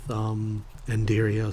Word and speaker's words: Ender IO: And one of the things I'd eventually like to do is to play around with Enderio some more. And yes, I know it's Ender IO, but this space is silent.